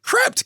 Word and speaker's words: Krept: How you pronounce it? Krept.